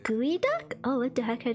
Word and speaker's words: geoduck: And for a sweet little treat because my sister Oh, it's pronounced gooey duck.